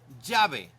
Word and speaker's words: llave: Llave. The double L in most Spanish dialects sounds like the English Y in yes.